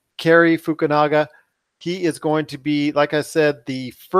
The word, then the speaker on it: Fukunaga: Fukunga, is that how you say it? No, Fukunanda. Now you got me saying Fukunaga. Oh, Fukunaga.